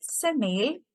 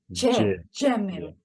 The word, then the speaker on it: Jamil: Is it Semil or Kemil? It's like J. Jamil.